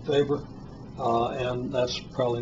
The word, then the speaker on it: weber: that's also called a weber german it's actually pronounced faber and that's probably not a very good german pronunciation so i'll stick with the americanized present pronunciation weber but be aware that you're mispronouncing it when